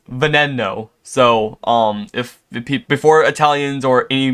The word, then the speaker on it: Veneno: know I'm going to get flamed for my pronunciation of Veneno. Some people say Veneno, some say Veneno, some say Veneno, some say Veneno.